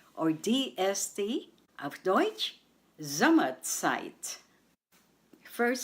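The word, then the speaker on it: Zeit: in German of deut site site and we spell it this way Z as in zebra e i t and remember the combination of EI in German is I the next word is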